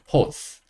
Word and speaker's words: hose: 마지막에 있는 e는요. 파란색, 묵음. 그리고 제가 말씀드렸다시피 마지막으로 온 e는 묵음. 기억하시죠? 자, H, 히읗 오니까 이게 호가 되고요. 시옷 하나 있으니까 이렇게 해서 호스, 호스라고 할 수 있습니다.